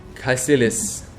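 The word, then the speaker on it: Kaecilius: Okay, Caecilius. So that's how you pronounce the name.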